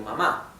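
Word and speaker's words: 吗: no cambia es ma esto significa madre o mamá bien y luego tenemos el neutro que no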